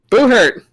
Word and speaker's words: Buhurt: Buhurt? How do you say it? Buhurt. Like a ghost.